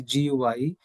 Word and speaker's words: Guy: is g g GUI it should be guy G mopas it's not D it's a g GUI